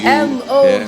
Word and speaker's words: Mougleta: M-O, just spell it. M-O-U. Mougleta.